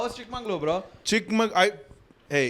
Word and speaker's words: Chikmagalur: How was Chikmagalur, bro? Hey, it's Chikmagalur.